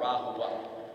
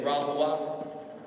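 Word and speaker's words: RaHoWa: were getting prepared for something that neo-Nazis call Rahua. Would you please say Rahua? If you want to look it up, it's spelled R-A-H-O-W-A.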